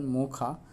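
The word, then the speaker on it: Mocha: मोचा नाम Yemen द्वारा दिया गया है, जिसका उच्चारण मोखा के रूप में किया जाता है।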